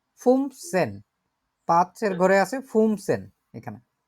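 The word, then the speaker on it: fünfzehn: 11কে বলে হচ্ছে এলফ, 12কে বলে সোলফ, 13কে বলে দ্রাইসেন, 14কে বলে ফিয়ারসেন, 15কে বলে ফুমসেন।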